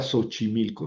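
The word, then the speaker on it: Xochimilco: Y si lo ponemos en la palabra sochimilco, suena como una s.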